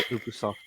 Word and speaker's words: Ubisoft: What the Ubisoft as well?